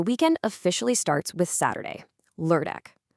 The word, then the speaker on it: lørdag: Okay, that ø sound can be a little tricky if you're not used to it. The best way I can describe it is like the er sound in fur or burn.